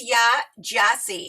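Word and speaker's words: Yaa Gyasi: Her name is Ya Gyasi, and I had to look and see how to pronounce everything.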